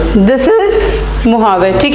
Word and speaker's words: Mojave: And Mojave, spelling you write M-A, it's not H, it's J. It is pronounced as Mojave but it is written as J, ठीक है.